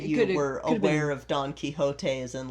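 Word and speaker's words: Quixote: Well, to be fair, an American who saw Don Kiote spelled out and didn't know how to pronounce it would call it Don uh Quijodote or something like that.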